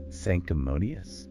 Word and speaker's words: sanctimonious: Sanctimonious? Sanctimonious. SANCTIMONIUS. Stress is on the first syllable. sanctimonious. And again, that ending reduces to S.